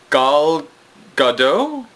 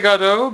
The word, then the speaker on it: Gal Gadot: found an actress named gal gadot i want to say goddo because i want to pronounce it like french or something but it's g-a-l-g-a-d-o-t and